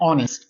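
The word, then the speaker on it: honest: इसको पढ़ते हैं ऑनेस्ट। एच का साउंड इसमें आता ही नहीं है। एच साइलेंट होता है।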